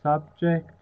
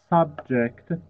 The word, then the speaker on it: subject: increased activities in these areas show that the subject might be lying uh by the way this word subject as a noun is pronounced subject means a person and as a